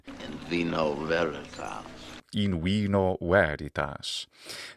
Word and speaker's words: in vino veritas: And he's saying, in vino veritas. in vino veritas. That's more of a classical Latin pronunciation. And of course, he's using that V sound, very typical of the Latin pronunciation of yesteryear.